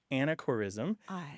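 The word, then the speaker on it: anachorism: m unfortunately it's a it sounds a lot like anachronism so people will think you're making a mispronunciation but it's anacor ISM and it's a geographical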